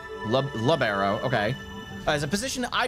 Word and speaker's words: libero: So, you said um libero. I pronounce it labberero. Labbero.